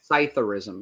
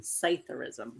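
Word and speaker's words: psithurism: how do you say it it's still there cytheris cytheris correct that is silent PE that is the official name for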